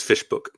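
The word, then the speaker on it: Visboek: is nice that way it looks completely different but it sounds a lot like English so Arin kunan was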